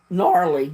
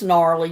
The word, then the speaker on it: gnarly: he liked being brushed silent G I got it right gnarly yeah I try to put the G sound in there but it's gnarly you're right what are